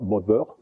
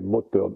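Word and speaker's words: Mothern: Mottern, c'est l'alsacien, donc le TH, ça s'écrit TH, mais ça ne se prononce pas comme l'anglais, c'est pas Mother, c'est Mottern, mais ça veut dire la même chose, c'est la mer.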